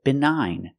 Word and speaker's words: benign: If the tumor is not malignant, we say benign. Another example of gn. The gn is at the end, so the g is silent.